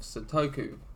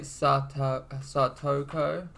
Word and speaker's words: Satoko: and he is satoko like your pronunciation was like such a butchering of that Sudoku you know and but yeah how do I say it satoko and he is I